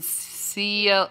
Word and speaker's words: Cielito: You have to say it in a Mexican accent. I have to say it in a Mexican accent? Cielito.